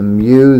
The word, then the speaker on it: mu: The mu there is the mean. Just to remind you, that's pronounced mu cal.